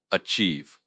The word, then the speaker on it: achieve: Achieve. A c h i e v e. pronounced orchive. Stress on the second syllable.